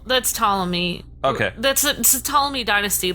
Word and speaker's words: Ptolemy: the eto L so potala me or Ptolemy the guy on the elephant yeah the P is silent I'm assuming cuz potala